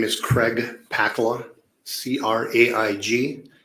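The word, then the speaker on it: Pakkala: name for the record my name is Craig pakla c-r-a-i-g p as in Paul a k k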